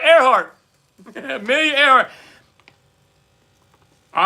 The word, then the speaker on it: Earhart: Earhart is how you say it. Not brain fart, Earhart.